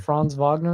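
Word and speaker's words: Franz Wagner: guy I think it's France vogner I think yeah fron Vagner fron Vagner is how you say it he's really good he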